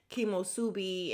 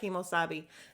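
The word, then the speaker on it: Kemosabe: Kathy said she got so upset about the whole tequila thing at Kimosubi, and Kyle is like Kimosabi, and she just kept saying it wrong.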